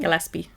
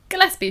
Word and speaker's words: Gillespie: has Aaron Gill can't pronounce that is you pronounce it gaspie Gillespie sure gppi gaspie potato potato